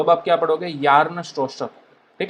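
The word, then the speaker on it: Bjarne Stroustrup: ठीक है, बिजार्न स्ट्रोस्ट्रप, इस तरह से इसको प्रोनाउंस किया जाता है।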